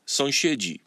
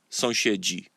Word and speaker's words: sąsiedzi: Sąsiad, sąsiedzi. A neighbor, neighbors. Sąsiad, sąsiedzi.